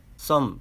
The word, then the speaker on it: thumb: 그리고 발음과 관련해선 알파벳 M 뒤에 알파벳 B는 묵음이다. 알파벳 CLIMB, climb, 알파벳 THUMB, some 정도는 기억해야 하고 단어 뒤에 알파벳 AN,